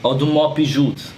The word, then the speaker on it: Audemars Piguet: That's not how you say it. What is it, Mr. Say it correctly. Audemars Piguet.